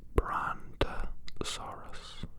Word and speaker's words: Brontosaurus: Brontosaurus.